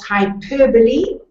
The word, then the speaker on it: hyperbole: The first one was hyperbole. You pronounce that last E, of course, and it's a kind of exaggeration.